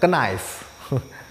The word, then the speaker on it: knife: Nah, kemudian ini, nah ini K-nya tidak dibaca. Ini kesalahan umum nih sering terjadi cara membacanya knife.